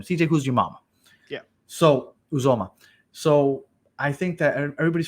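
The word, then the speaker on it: Uzomah: A lot of people keep talking about CJ Uzma, or I keep forgetting how to pronounce that guy's name. CJ Uzumama. Yeah. So Uzoma.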